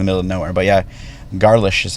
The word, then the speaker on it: Garlisch: But yeah, Garlisch is how they pronounce it. 121 Garlisch in Elk Grove Village.